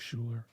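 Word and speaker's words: Schuyler: one more time s-c-h-u-y-l-e-r yeah it sounds like Schuler okay um but she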